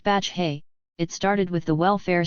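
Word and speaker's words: Batlle: It started with the president called battle, pronounced Batch Hay.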